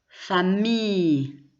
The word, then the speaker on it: famille: Famille, on ne prononce pas le double L.